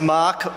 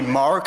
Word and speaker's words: Mark: go hi my name's mark or that would be mark for you Americans because you don't pronounce it the right way I'm an Australian I've